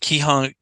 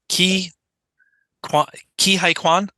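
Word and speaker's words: Ke Huy Quan: key oh my God I always mispronounce keyhung Keyhole say his name key High Quan yes I always mess up the middle part um he was absolutely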